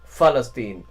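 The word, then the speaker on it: فلسطين: though the word uh Palestine in Arabic is with an F. Falstine.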